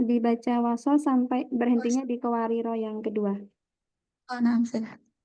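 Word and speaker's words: قواريرا: Jadi kalau berhenti di kuariro yang kedua, jadi bacanya kuariro, kuarir, begitu ya.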